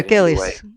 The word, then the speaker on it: Gillies: and that was when is it Gillies? Is that how you say her name? The little girl who driving the wagon that they hide. Yeah, Gillies. Gillies.